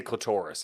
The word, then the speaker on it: clitoris: it like Dolores too you can say clitorus if want I'm just going with the clitoris that's why I'm going